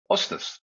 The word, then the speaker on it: Østhus: Ostas. Thank you. And I'm so impressed by how close to Norwegian you pronounce my name.